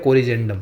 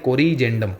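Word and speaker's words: corrigendum: तो उसे बोलते हैं कोरजेंडम। क्या बोलते हैं? कोरजेंडम।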